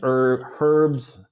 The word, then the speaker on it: herbs: But in America, In American English, the H is silent.